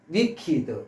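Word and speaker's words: wicked: 악덕한 했을 때 리퀴드하고 갖고 한 번 더 셔스는 악덕한 위키드 위키드 이드를 발음을 이드라고 바람 원래는 이제 과거 분사꼴인데 이거는 거의 형용사화된 거예요.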